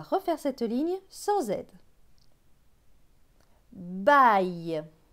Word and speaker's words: baille: B avec A-I-L. A-I-L se prononce aïe. Donc B et aïe, baille.